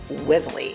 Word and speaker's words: Wellesley: We are in Wellesley.